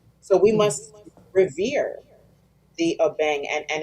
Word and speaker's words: abeng: If you go to Ghana right now and say abeng, they might say aben.